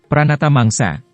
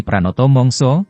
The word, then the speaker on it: Pranata mangsa: Pranoto mongso mengutip Wikipedia Pranata mangsa atau dalam pelafalan bahasa Jawa menjadi Pranoto mongso mempunyai arti ketentuan musim